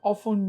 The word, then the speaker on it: often: Question number 2, I have often made that mistake. Can you say that now? I have often made that mistake. Now remember, in the word often, letter T is silent, so you don't pronounce it.